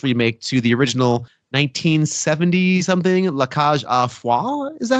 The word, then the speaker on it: La Cage aux Folles: a very close remake to the original 1970-something La Cage aux Folles. Is that how you pronounce that? I don't know. La Cage aux Folles, yeah. Oh, okay. La Cage aux Folles, which is 1978.